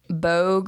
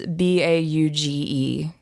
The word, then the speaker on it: Bauge: Bogue or bog. It's Bauge.